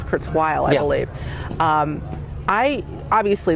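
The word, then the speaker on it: Kurzweil: name because I think a lot of people say Kurtz well it's Kurtz while I believe um I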